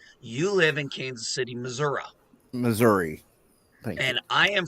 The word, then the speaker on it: Missouri: I'm kidding I'm kidding I know it's maora yeah baby you're I'm sorry that's how Grandpa Simpson pronounces it okay it's wrong it's Missouri you're telling Grandpa Simpson